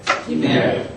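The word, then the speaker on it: גימל: 김멜 김멜 김멜 김멜 김멜 아니 김멜 김멜 앞에 액센트가 있습니다. 그 저 히브리어는 액센트가 있는 언어기 때문에 어 액센트에 유의하실 필요가 있습니다.이 이 액센트가 어디 갔느냐에 따라서 어 여러분에게 또 무슨 일이 벌어질지 모릅니다.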